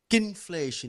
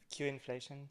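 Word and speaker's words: Qinflation: So next we have Christian, who's going to talk about quinflation. Is that the pronunciation? Quinflation? Q-inflation. Okay, Q-inflation.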